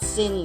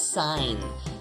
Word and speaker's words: sine: it looks like that it's not sin guys it's sign stop pronouncing it wrong okay anyway uh sine of and what we're